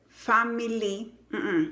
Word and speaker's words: family: Entonces, en las palabras que tienen la Y al final, esa Y normalmente se pronuncia con la I del español. Y esa I del español es normalmente no acentuada, ¿ok? Entonces, la palabra familia no es family, es family, family.